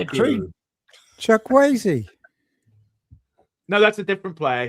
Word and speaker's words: Chukwueze: Chukwueze.